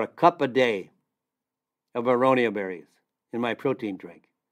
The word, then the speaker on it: aronia: aonia berry that might be new to you aronia is spelled a like apple R like Robert o